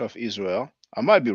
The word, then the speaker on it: Israel: biblical Holy Land in English it is generally pronounced as Israel s Rael Israel did you get it let